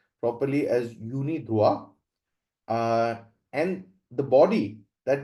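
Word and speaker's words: UNIDROIT: written as draw it in English but it's pronounced properly as Unida uh and the body that maintains is United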